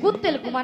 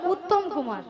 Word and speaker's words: উত্তম কুমার: শ্রী শ্রী কুত্তেল কুমার নয়, বলো উত্তম কুমার। উ ও উত্তম কুমার।